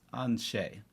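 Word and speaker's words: Aen Seidhe: But so for those listening at home, it's spelled AEN space SEIDHE. That's Anshe.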